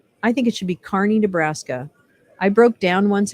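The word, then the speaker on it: Kearney: spelled like karney so don't say karney it's Carney yeah I don't know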